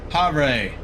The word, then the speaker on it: Havre: welcome to something but i didn't catch it harvey h-a-v-r-e it's north central montana we are not